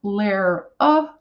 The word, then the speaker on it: Lara: So I could say Lara is pronounced Lara, and hopefully if they pronounce those two end pieces correctly, they'll get my name correct.